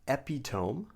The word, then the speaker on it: epitome: Not epitome, but epitome.